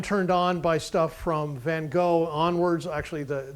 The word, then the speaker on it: Gogh: on by stuff from Van Gogh onwards actually the the pronunciation is von hawk because he was Dutch although he spent most